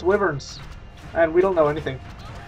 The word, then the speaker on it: wyvern: My wyverns, according to somebody... Somebody told me the other day it's pronounced wyvern, not wyvern.